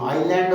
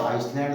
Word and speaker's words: island: इसी प्रकार कुछ अन्य शब्द हैं, जैसे ISLAND, आइलैंड बोला जाएगा, आइसलैंड नहीं।